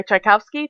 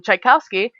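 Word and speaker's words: Tchaikovsky: things I one of my favorite songs by chaikowsky chowski is spelled t c h a i k o v s k y um chikowski I I assure you you've seen the name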